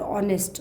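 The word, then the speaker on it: honest: Start हो रही है, आवर और ऑनेस्ट, दो हैं जिनकी जो आवाज़ है, साउंड है, वो कैसी आ रही है, वोवेल जैसी आ रही है, क्योंकि एच उसमें साइलेंट रहता है तो वहाँ भी हम एन का यूज़ करेंगे।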